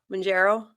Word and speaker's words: Mounjaro: Kat, say it real quick. Mounjaro? No, I said the right way.